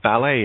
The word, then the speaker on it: ballet: T is silent in debut, ballet, and, oh, look at that, castle.